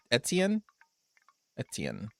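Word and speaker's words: Étienne: You don't pronounce You don't say the last e. Well then why is it there beak? Why is it there? If it is there it must be pronounced for that is okay. So it's etien you have your own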